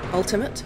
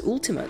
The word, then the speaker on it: Ultima: so yeah um ultimate ultimate ultima i don't understand what the problem is there how how do you pronounce it ultima who says ultimate that's not that's not